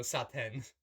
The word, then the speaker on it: Satan: I almost said Satan, pronounced Satan in, like, the Japanese pronunciation of, like, how you would pronounce that word. So, Satan.